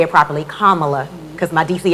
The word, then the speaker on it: Kamala: to say it properly kamala because my dc accent i want to call it kamala girl but kamala and with stacey abrams